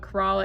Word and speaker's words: Corolla: If you're wondering why do we call it Corala? It's spelled like Corolla like the car, but it's actually pronounced Corala.